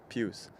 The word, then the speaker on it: Pius: you're from right because here the p it's p-i-u-s of course but in german it's pews so it's just the